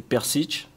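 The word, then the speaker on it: Prcić: Alors, la bonne prononciation de mon nom, c'est Persic.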